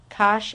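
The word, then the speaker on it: cosh: remember we can call this cinch X and Kosh X2 all right here's hyperbolic cotan and tan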